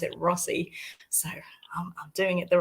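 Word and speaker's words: Rothesay: I got that wrong because I thought it was like Rotsay, but locals pronounce it Rossi.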